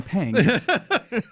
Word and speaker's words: Pangs: It's actually Pangs with a G.